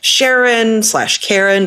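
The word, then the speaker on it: Charon: things about Pluto and Sharon/Caren, depending on how you want to pronounce it, but we're back with some more icy bodies.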